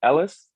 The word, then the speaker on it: Ellice: for everybody watching this is Mr Neal hey pronounce your last name Ellis yeah that works you know it's gonna pronounce